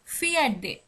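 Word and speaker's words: fjärde: কারণ আমরা জানি 4কে বলা হয় সুইডিশে ফিরা, কিন্তু এখানে দেখুন, দেখুন 4th-কে বলা হচ্ছে ফিয়ার্ডে, ফিয়ার্ডে, যেটা অন্য সংখ্যার ক্ষেত্রে কিন্তু এরকম না।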